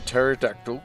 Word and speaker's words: pterodactyl: I asked the group why can't you hear a pterodactyl go to the toilet my favorite joke cuz the p is silent silent yeah damn you do